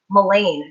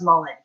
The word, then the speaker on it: mullein: Another really great one for respiratory things specifically is mullein, sometimes pronounced mullein.